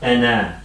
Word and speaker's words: ana: So you just read as ana. This is not ana, okay? Why is that? It's just the way it's written. Yes, it is written like this, but pronounced ana.